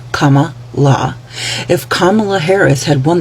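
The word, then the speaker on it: Kamala: that had comma and yes that is how you pronounce her name Comm La if Comm Harris had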